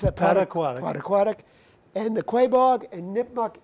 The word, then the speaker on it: Pottequadic: The Around, how do you pronounce that? Pottequadic.